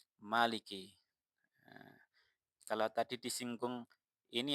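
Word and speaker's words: مَلِكِ: Sisanya atau selain dari Asim dan Al-Kisai ini membaca Maliki dengan menghapus alif. Berarti gimana bacanya? Maliki.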